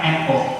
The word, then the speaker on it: Soekarno: Tapi dalam ejaan Suwandi, U itu ada O dan E. Maka Soekarno ketika proklamasi itu teks aslinya harusnya SOEKARNO, Soekarno. Itu teks aslinya.